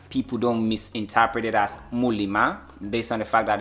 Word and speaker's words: Muliima: Then I'm like, based on the pronunciation from my tribe, it's actually Muliima.